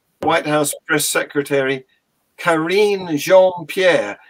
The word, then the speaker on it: Jean-Pierre: House Press Secretary Kareem Jean-Pierre except that I think in American that would be pronounced Jean Pierre correct me if I'm wrong and and uh but